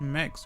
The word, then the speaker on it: Mx: I think it's just straight up pronounced Mex, right?